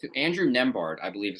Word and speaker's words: Nembhard: So and I can't really pronounce this guy's name. Andrew Nembhard, I believe is how it's pronounced. Nembhard, yeah.